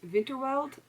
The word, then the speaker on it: Winterwald: I had to like mix up my W's and my W's, and she'll know what I'm talking about when I say that, because in German, like, W's are pronounced V and V's are pronounced W.